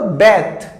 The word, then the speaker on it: bathe: Pronunciation ध्यान से सुनना, बात और बैथ, इसे बैथ बोलते हैं, इसे बात बोलते हैं।